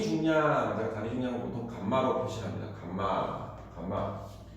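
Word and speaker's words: γ: 자, 어, 감마 S는요 감마라고 읽어요. r이라고 읽으면 안 돼요. 그다음에 건조단이 중량. Rk 자, 감마 r 읽지 말라고.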